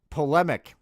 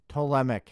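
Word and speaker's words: Ptolemaic: PMIC. TMIC. The P is silent.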